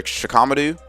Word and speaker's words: Shikamaru: For Shikamaru, which is, yes, the right way you pronounce it, she knows that his lack of